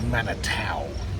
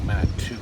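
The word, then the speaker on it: Manitou: so the name of the town is called manatau not manatou we pronounce it just used to the uh the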